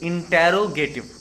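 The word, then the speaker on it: interrogative: साथ, जिसका नाम है इंटेरोगेटिव एडजेक्टिव। इसको गलत प्रोनाउंस किया जाता है, इंट्रोगेटिव बोलते हैं, बट इसको इंटेरो बोला जाता है।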